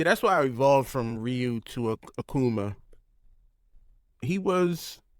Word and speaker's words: Ryu: forth between bison and Ryu which by the way that is a correct pronunciation Ryu not all those who pronounce it rayu but R uh props